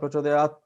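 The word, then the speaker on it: प्रचोदयात्: So the common way is Prachodayat. So halant, that the last syllable is it. It is not tha, it is Prachodayat it.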